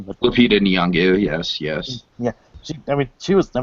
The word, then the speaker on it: Lupita Nyong'o: Yeah, and Lupita Nyong'o, I don't know if that's how you pronounce her name, but Lupita Nyong'o, yes.